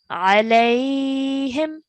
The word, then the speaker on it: عليهم: It's a ya lean because it's a ya sakin and the letter before carries a fatha, so it's a ya lean. So we're pronouncing as alayhim.